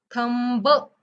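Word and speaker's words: thumb: करायचा नाहीये ्याच्यानंतर आहे एम बी एम बी आल की पण म म्हणायचंय ब असं म्हणायचं नाहीये ब चा उच्चार करायचा नाहीये एमच ठेवायच ज example T एच यू एम बी थंब म्हणायचं नाहीये टी एच य एम थंब म्हणायच थंब ओके अंगठा थंब अजून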